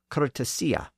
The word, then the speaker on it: courtesy: sound at the end in Middle English it wasn't the pure e sound found in native English words it was a slightly different sound those words had entered English from French with a slight light diff thong at the end pronounced so courtesy was originally cesia and that's how it was pronounced in the time of choser and that's actually how